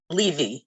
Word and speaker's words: Levy: and then robert i'm just going to correct your pronunciation of my name it's bl it's levi robert i'm so sorry i've been saying levy almost all this time